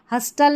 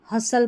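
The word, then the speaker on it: hustle: हस्टल नहीं हसल पढ़ना है। टी साइलेंट है।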